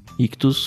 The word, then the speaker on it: Ichthus: Ictus, como sempre, se escreve ICHTHUS.